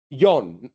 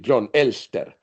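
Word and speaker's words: Jon Elster: When you plan to be happy, it by definition gets happiness is Jon, that's how probably they pronounce it. We pronounce it John Elster, Norwegian rational act theorist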